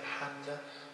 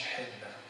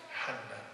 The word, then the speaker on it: حنة: هي في اللغة العربية تتنطق حنة مش حنة، حنة.